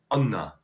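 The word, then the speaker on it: أنا: So the Arabic a and a are pronounced as closer to you than a, meaning ana is pronounced anna, which gives us una, me in Albanian.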